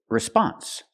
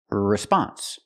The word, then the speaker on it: response: in a few minutes we cannot pronounce the word response the stress is on the second syllable not the first so we have to say response response move the stress to the second syllable